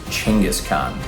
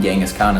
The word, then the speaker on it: Genghis Khan: which means Universal ruler the actual way you pronounce it is chingis Khan but that sounds horrible and I don't like saying that so I'm going to keep calling him gangas Khan in this video you're welcome bro really turned